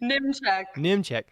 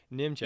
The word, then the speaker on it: Nimechek: You say it. Nimechek. Nimechek. Yeah.